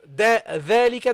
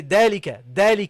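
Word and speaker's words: ذلك: Okay, so instead of dhalika, they say dalika. They pronounce it like a D sound instead of the.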